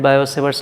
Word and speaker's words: Biot-Savart: T is silent here, we can call it Biot-Savart's law also.